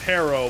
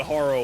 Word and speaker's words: Harrow: I know that it's pronounced Harrow, but I call it Haro largely out of spite at this point.